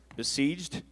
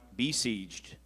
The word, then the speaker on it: besieged: Zakai, your word is besieged. It could also be pronounced besieged.